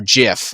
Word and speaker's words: GIF: animated gif okay or jiff is actually the correct pronunciation people call it both but this is an